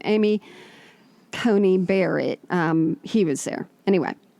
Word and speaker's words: Coney Barrett: event oh at that outdoor thing for um cohen barney i'm joking you'd like to mispronounce her name amy coney barrett um he was there anyway hmm well she